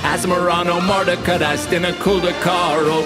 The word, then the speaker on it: Asmoranomardicadaistinaculdacar: creature whose pronunciation's hard let's start with asmorano mardico diced in a colder car it's asmrano marta catast in a cul de carl to this car design